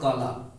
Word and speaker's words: कला: कई लोग देखिए दोस्तों, इंग्लिश जिनकी थोड़ा सा है प्रोनाउंसिएशन का दिक्कत, वो कहेंगे कि Rohit is the brother of काला। ठीक है। इसको KALA को काला पढ़ेंगे। ठीक है। ये दोस्तों कला है, कला की मीनिंग भी